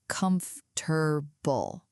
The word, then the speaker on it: comfortable: Even though it looks long, native speakers usually say comfortable.